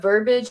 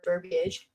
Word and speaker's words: verbiage: Um, but I know what verbiage is or verb verbage, however you pronounce it. It's one of those things where it's spelled B I A, but sometimes the I isn't pronounced, whatever.